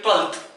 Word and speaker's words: twelfth: When we pronounce 12th, F का कहीं कोई रोल नहीं है, F की कोई आवाज ही नहीं।